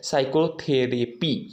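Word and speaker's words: psychotherapy: यहाँ पर हमारा क्या है, यस के पहले जो पी आया है उसको हम क्या पढ़ेंगे, साइलेंट पढ़ेंगे। इसे नहीं कि पैथोलॉजी, साइको यानी साइलेटिक, ये सब नहीं पढ़ेंगे। हम क्या पढ़ेंगे, ये पी को क्या बोला गया है, इसमें पी को हम साइलेंट ही पढ़ेंगे, साइकोलॉजी, ठीक है ना दोस्तों।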